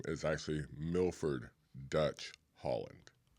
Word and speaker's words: Holland: Holland. Yes. Just like the country.